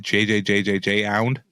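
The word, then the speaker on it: JJJJJound: And the quality of materials of, how do you even pronounce that? Is it JJJJJ-ound? I think it's just Jound. I know, right? I was fucking with you. No, it's Jound.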